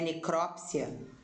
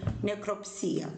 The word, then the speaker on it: necropsia: E algumas pessoas vão falar, Sandra, necropsia, não é necrópsia? Existem as duas grafias, mas para ser necrópsia tem que ter um acento aqui. Não tem um acento aqui, nessa sílaba, cro, não tem, né? O cro. Então, para ser necrópsia, teria que ter um acento aqui. Não tem, então eu vou ler necropsia, ok?